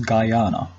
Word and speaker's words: Guyana: the highest point in Guiana his mount Roraima the nation's name can also be pronounced as Guyana the highest point on